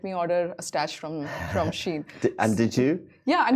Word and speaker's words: Shein: How do we pronounce it? Shein, and a little fun fact that when I